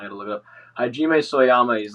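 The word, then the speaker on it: Hajime Sorayama: Like so, I gotta like look his name up to fucking spell it right. It's like Soyama. He just did like he's a Japanese artist. Hajime Soyama.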